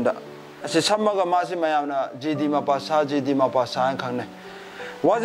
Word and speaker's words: Guy de Maupassant: Hi, Magi French pronunciation. Da. Asi samaga masi mayana GD Mapasa, GD Mapasa, and Kane.